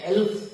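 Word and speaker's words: elf: अपवादों में ई एल एफ, जिसको हम लोग एल्फ पढ़ते हैं, और एल्फ का मतलब होता है परी।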